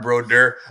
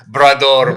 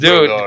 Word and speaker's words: Brodeur: Then it was weird because he pronounced Brador okay. But then when Martin Brodeur played for the Devils, he would call Martin Brodeur, Brador played the game tonight.